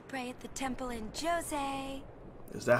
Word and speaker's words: Djose: you here all right so jose is how you pronounce it hey new guy me